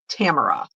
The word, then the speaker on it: Tamara: Rhymes with camera. Tamara.